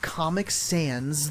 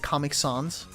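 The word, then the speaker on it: Comic Sans: Eevee Gamer like Comic Sands. The font Eevee Gamer. Perfect. Imagine I was pronouncing that comic sons.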